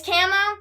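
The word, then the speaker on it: Kamo: And usually, who makes the magic circle is Camo. Or Chamo, however you want to pronounce it. It's Camo, and Camo's like, he's really pervert, and he's like, oh, kiss, why don't you?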